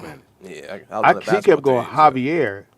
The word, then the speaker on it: Javier: yeah he kept going javier is spelled with the j but it's pronounced with an h yeah but it's no